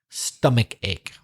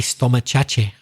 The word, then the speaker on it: stomachache: say my favorite because I love the mispronunciation I think I mentioned this before when some Spanish speakers speakers say a store muchacha I love that no it's pronounced stomachache and remember not to put the air at the beginning of stomach it's not s stomach its stomach stomachache and again the hard